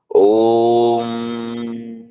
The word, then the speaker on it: ओम: का उच्चारण करना है कैसे करना है ओम ओम ओ इससे लंबा नहीं करना इससे छोटा नहीं करना इतना ही करना है इसे दीर्घ कहते हैं तीन तीन ध्वनियां होती